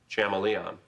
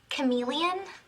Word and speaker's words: chameleon: Professor, do you mean chameleon? Betty, I'm pretty sure it's pronounced chameleon. So. Class dismissed. No homework for a while. Okay, I learned that word by reading it. That's how I've always pronounced it.